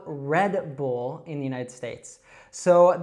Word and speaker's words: Red Bull: And so make sure you don't make any extra sound after that D. It's just red, like the color, red. And then bull, we have that dark L sound again. So Red Bull.